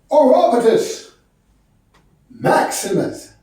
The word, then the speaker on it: Orapotist Maximus: My name is pronounced Orapotist Maximus.